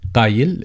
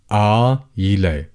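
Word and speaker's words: قايل: Qayil if you pronounce the qaf as it should be, or you could replace it with a glottal stop. So you'd say ayle, ayle, ayle.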